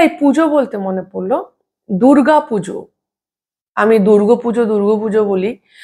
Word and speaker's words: দুর্গা: আচ্ছা, এই পুজো বলতে মনে পড়লো, দুর্গা পুজো। আমি দুর্গা পুজো বলি, এটা নিয়ে আমাকে অনেকে কমেন্টে লিখেওছে। একজন তো বলেছে দুর্গ বলবেন না, দুর্গা বলুন।